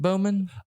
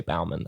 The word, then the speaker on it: Bauman: last name so like could it be said Bowman is like a potato potata thing I mean to the amount of people who mispronounced my name seem to think it can